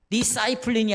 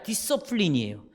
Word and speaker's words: discipline: 발음이 그렇게 되어 있어요. 디사이플린이 아니라 디서플린이에요.